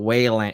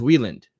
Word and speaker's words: Wieland: you said it wrong it's not it's not Wayland it's Wieland okay I don't know